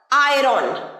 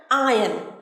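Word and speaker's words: iron: ইস্ত্রি করা জামা কাপড় স্ত্রী করা প্রেস করা আয়রন ভুল একদম ভুল উচ্চারণ একদম এরকম বলবে না সঠিক ভাবে বলবে কিভাবে বলবে আয়ন আয়ন আয়ন ঠিক আছে মাই সিস্টার ইজ আয়নিং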